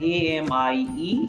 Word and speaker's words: amie: Boy, a friend who is a male, and Ami, same pronunciation.